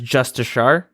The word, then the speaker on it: Justicar: I believe they're pronouncing it, the Jmods, as Justishar.